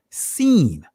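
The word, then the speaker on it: שׂ: his israeli language right depending on the placement of the dot if it's to the right it'll be pronounced sheen if it's still on the left it'll be pronounced seen but the numerical value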